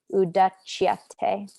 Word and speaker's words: udachyate: So just so you know, in Sanskrit, whenever you see a C by itself, it's always pronounced cha, almost like the English CH. So this is, sometimes people will write it like that, but this is pronounced cha, udachyate.